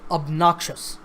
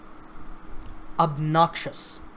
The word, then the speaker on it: obnoxious: syllables of noxious and the stress is on the second syllable so obnoxious obnoxious so listen to that